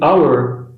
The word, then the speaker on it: hour: O H da palavra hour é mudo, fazendo assim com que o primeiro som seja de A.